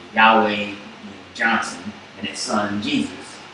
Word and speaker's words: Yahweh: Tetragrammaton, which is Yod-Heh-Vav-Heh, or Yahweh is how most people think it's pronounced.